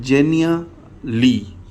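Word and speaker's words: Genially: तो अगला टूल है जी हमारे पास, इसका नाम वैसे तो थोड़ा सा अजीब है लेकिन इसको प्रोनाउंस किया जाता है जेनिया ली।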